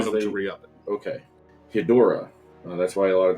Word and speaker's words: Ghidorah: So Legendary is tentatively allowed to use Ghidorah. You have to say it right. You have to say it Japanese.